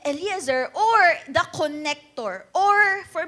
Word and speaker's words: Eliezer: Okay Ayan okay si Eliazar pero we pronounce it eliazer or the connector or